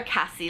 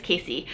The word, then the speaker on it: Cassie: And oh my god, Casey, I used to call her Cassie Levy, but I guess her name is Casey. I'm so sorry. I've been pronouncing her name wrong my entire life.